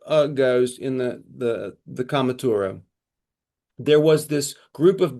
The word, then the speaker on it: Cath Maige Tuired: The Cath Maige Tuired looks like it should be Cath Maige Tuired, but it's pronounced Cath Maige Tuired.